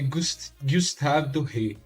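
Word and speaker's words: Gustave Doré: aqui a pronúncia ele Gustavo dor era um cara francês era um ilustrador francês então a pronúncia dele ia ser Gustav do Rei algo do tipo é interessante saber mas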